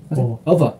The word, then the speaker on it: of: 그 다음에 이제 of하고 어의 발음이 이게 f지만 v 발음이 돼요. 똑같아. f하고 v하고 발음의 위치, 위치하다 아랫 입술을 마찰시키는 건 똑같은데 이거는 f 발음이 p 발음이 아니고 b 발음이라는 거예요. of.